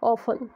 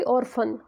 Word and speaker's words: orphan: यहाँ पे raw silent होगा, इसका सही प्रोनाउंसिएशन होगा ऑफन, ना कि ऑर्फन।